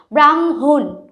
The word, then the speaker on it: ব্রাহ্মণ: এভাবে হয়ে যাবে ব্রহ্ম ব্রাহ্মণ ঠিক আছে ব্রাহ্মণ আমরা কিন্তু হ এর উচ্চারণটা খুব কম করি ব্রাহ্মণ তাহলে কি মটার